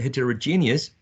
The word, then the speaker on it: heterogeneous: we can see that heterogeneous um has uh six syllables uh six vowel sounds six elbows right the fourth syllable one two three four is the one stressed i think there's a